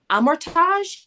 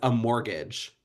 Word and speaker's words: Amortage: I always read it as a mortgage. So yeah, I think it's amortage cuz I think it's supposed to be Frenchyesque pronunciation, but god, who would